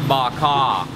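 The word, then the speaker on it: bò kho: okay okay okay so the stew is pronounced bak ha she is really really nice here and a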